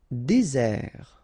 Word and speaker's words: désert: Désert, okay, remember, final T not pronounced, désert, and really this z sound just because you get one S between the two vowels, okay, z, désert.